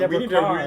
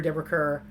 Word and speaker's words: Deborah Kerr: Deborah, I was shocked to learn that Deborah Carr's name is pronounced Deborah Carr. We need to re-edit our entire King and I episode, probably. During the show, I've called her Deborah Kerr, and so Ron taught us something new.